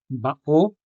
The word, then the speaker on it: bao: The stress in these examples, bao, to-o, and loa, falls on the lone syllables, o in bao, also o in to-o, and a in loa.